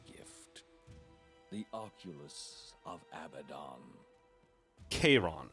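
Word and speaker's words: Charon: the oculus of abaddon k-ron is apparently how you pronounce that there's no cha what do you mean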